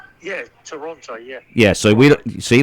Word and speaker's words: Toronto: with a friend in Toronto notice I said Toronto with a t that they don't say it like that up there it's called Toronto anybody that's from there says Toronto they leave out the middle T right silent